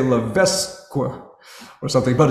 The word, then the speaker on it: Levesque: actually say her name is Sierra Levesque, and it's spelled L-E-V-E-S-Q-U-E. So us Americans, we might say Levesque or something, but it's Levesque, Sierra Levesque.